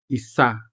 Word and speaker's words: isa: For example, isa, which means one. Isa. The stress falls on the second syllable. So we say isa, isa.